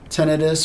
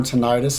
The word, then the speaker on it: tinnitus: surgery um headaches migraines tenus or tenius however you would like to pronounce it I did confirm that with my audiologist that tenus and tenius are both the correct way to say that so either way you